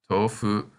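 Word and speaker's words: 豆腐: So in this word, the O in to is said twice as long. And as you can guess, this word means tofu.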